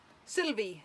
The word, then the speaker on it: Silwy: came with two coasters that's silly be how we pronounce again seems silly be each glass comes with